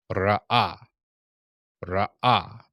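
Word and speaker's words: ראה: to see ah ah the Resh all of the hey here is silent we were during our lesson we learned that if there were a dot in this hey that that hey would be emphasized but there is no dot in this particular one so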